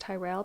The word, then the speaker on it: Tyrell: his servant Sir James Turell I've also heard that pronounced Tyrell but I'll go with Terrell because that's what the documentary does to do the job